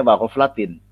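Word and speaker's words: وَغَفْلَةٍ: Karena di dalam kalimat sebelumnya aslu kulli maksiatin ya, posisinya jar maksiatin ya, maka perlu wa ghaflatin ya. Bacanya wa ghaflatin, jar juga karena asli kalimatnya adalah wa aslu kulli ghaflatin.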